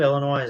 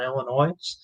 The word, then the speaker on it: Illinois: do a stream on illinois uh illinois i guess uh the s is silent we got some stuff